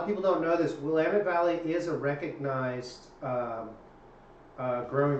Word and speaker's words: Willamette: planning to work in 2017 from Willamette Valley Willamette damn it that's how you say it Pinot